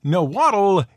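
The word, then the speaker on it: Nahuatl: can't do oh and no waddle is a perfectly acceptable english pronunciation for the name of the language itself in case you were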